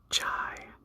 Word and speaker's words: chi: Next, we have, I like to call it chi. My ancient Greek professor does not enjoy when I call it chi, as it's more of a k sound, like an aspirated K.